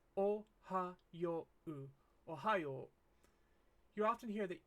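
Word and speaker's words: おはよう: of course good morning common mistake that English speakers make when they're writing the word oh we seem to want to put an e sound between ha and yo and it really doesn't need one it should be oh Hao oh you often hear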